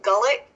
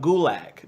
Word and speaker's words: Gulak: Drew Gullet. McIntyre. Drew McIntyre. No. Oh no! You're talking about Gulak. Drew Gulak.